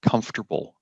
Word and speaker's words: comfortable: see it again no there's no vowel sound between the F and the T come after after like